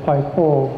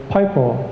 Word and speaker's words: Pipo: still around today and he still pronounces it pipo but other people that saw this um they didn't know that there was a a merron over that o and they just said pipo and that's where the